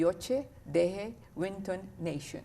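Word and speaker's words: Yocha Dehe Wintun Nation: us about the partnership you created with the yoche de winton nation yeah did i pronounce it right yes you did okay yeah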